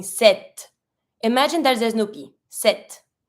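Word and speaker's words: sept: because in this one you pronounce the T but you don't pronounce the P so you're not going to be saying sep you're going to be saying set imagine that there Snoopy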